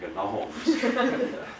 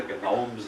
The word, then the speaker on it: gnomes: As far as I know, he was the only one that ever pronounced the G in Gnomes. We call them the Gnomes of Zurich.